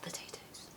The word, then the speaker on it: potato: This word showcases the wonderful alphabet A, not the stretched arm A, the alphabet A. A. Potato. It falls on the stressed syllable, so you really hear it when you say that word.